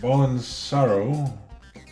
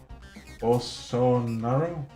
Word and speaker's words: Bolsonaro: before uh referencing paul and kaepernick brazilian president ballen sorrow bolsonaro bolsonaro sorry i really gotta start looking these